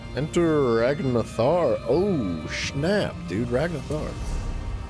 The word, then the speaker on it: Ragnthar: Ragnathar. Ragnthar, I think, is actually how it's said.